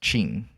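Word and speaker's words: Qin: I I do think it's pronounced Chin.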